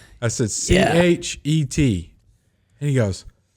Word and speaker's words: Chet: And then I said, it's like bet, but with a C-H.